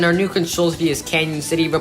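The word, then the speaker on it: Cañon City: After Gunnison, our new control city is Canyon City. The pronunciation doesn't make sense, but anyways, just signed Pueblo once again.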